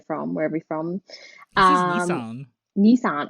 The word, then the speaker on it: Nissan: was a bright red Nissan or Nissan where you're from wherever you from um Nissan Nissan Americans say Nissan it's so weird it's niss by the way but you know